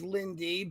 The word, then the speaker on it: Lind: Katie, real quick, just it's the German pronunciation, so it is Lindy, but Oh, I'm giving sorry.